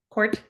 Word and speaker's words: Kordt: and today I'm here with the fabulous Dina Court did I pronounce the last name right Court you sure did good um from nearby Left